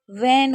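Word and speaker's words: when: व्हेन कभी भी डब्ल्यू और एच के बाद अगर कभी भी आपको ई दिखे या फिर आई दिखे या वाई दिखे तो हमेशा आपका एच साइलेंट रहता है। तो यह क्या हो जाएगा? व्हेन हो जाएगा।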